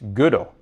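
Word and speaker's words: Gödel: a lot from you learn how to properly pronounce good ol today it's good ol as in the logician good ol so yeah thanks again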